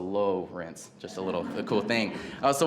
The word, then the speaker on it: Lowrence: It's spelled Lawrence, but with an O, so Lowrence, just a cool thing.